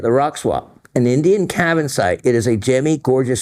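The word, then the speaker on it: cavansite: Cabin site, just as it's spelled.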